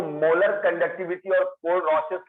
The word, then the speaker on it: Kohlrausch: ठीक है, molar conductivity, and इसको अच्छे से एक्सप्लेन करता है KOHLRAUS, कोल-रॉसेस लॉ। कोहल लिखा हुआ है पर एच साइलेंट है, RAUSCH, कोल-रॉसेस लॉ।